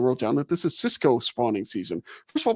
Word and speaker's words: cisco: So Cisco, it's spelled differently than the food service.